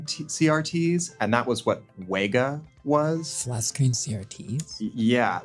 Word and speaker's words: WEGA: that's the one that it kind of looks like Vega, but with two V's. And Sony's always like, no, it's Wega. Say Wega.